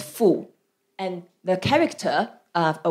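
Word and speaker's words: 妇: So it's pronounced as fu.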